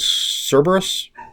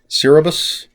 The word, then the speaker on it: Cerberus: collective which is called cerberus cerebus um cerberus yeah i said it right the first time uh they call